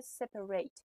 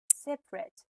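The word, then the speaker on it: separate: راجع به سپریت بگم اگه سپریت در حالت ورب بیاد پرونانسیشنش میشه سپریت ولی اگه در حالت اجکتیو ما بخوایم ازش استفاده کنیم میشه سپرت دیگه سپریت خونده نمیشه پس اونجاو دقت کارگردان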